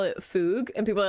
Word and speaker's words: FUG: and people are like that's technically not the pronunciation like I know but I'm also an English speaker and I do not trust myself to enunciate properly like I know it it Rhymes more with bug um but I do